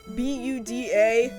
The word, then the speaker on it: Buda: It looks like it should be pronounced Buddha, but it's not. It's pronounced the text say B U D A.